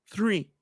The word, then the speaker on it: three: Entonces, ahora sí ya puedo pronunciar three.